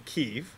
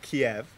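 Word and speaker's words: Kyiv: over the next year as I study in ke which I learned is not Kiev but from reading her blog it's not pronounced Kiev it's okay so you know I learned something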